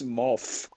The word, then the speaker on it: Morph: no they say mauve you go know what you're pronouncing it as if it's mo double F it's ma th it's a man it's math oh you what okay Mowgli's mo th well no it's morph the way they said like an half